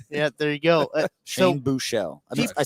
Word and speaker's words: Buechele: Shane Buechele.